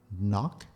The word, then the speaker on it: knock: vocabulary section emitter emitting knock notice we don't pronounce k paraffin or paraffin neutrons